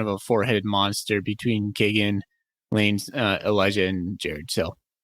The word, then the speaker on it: Keegan: And you see on the two deep, we have Keegan Williams, and then Lane Sumner. Kagan. We were saying that wrong. Yeah, there it is. Kagan. Yeah. We were saying it wrong on our last episode.